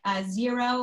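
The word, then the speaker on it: Xero: can get online sources like zero which is spelled x o that will actually like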